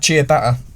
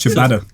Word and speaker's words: ciabatta: You ever tried chia batter? Yeah, garlic bread, isn't it? Nah. No, It's pronounced ciabatta.